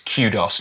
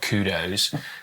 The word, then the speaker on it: kudos: You know, someone actually I I basically said in the video that it's cudos, not kudos. And it's a it's a a Greek word, but it was first popularized in English in Britain.